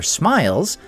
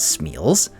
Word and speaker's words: smial: way around until they start building their smiles, which in the show they mispronounce as Chmiels, in a land that